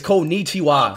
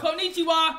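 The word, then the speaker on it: こんにちは: Konnichiwa. Did I say it right? It's Konnichiwa. Konnichiwa.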